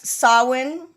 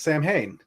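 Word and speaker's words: Samhain: his like two kids um and you got sawin which is the Gaelic word for Halloween you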